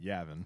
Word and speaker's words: Yavin: They pronounce it Yavin.